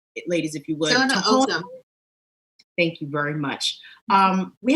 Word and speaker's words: Tohono: And it's the Toho, help me out with the pronunciation, ladies, if you would. Tohono.